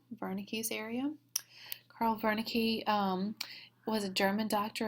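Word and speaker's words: Wernicke: it's should be pronounced Veri with a W but it should be pronounced with a V Vern's area Carl Veri um was a German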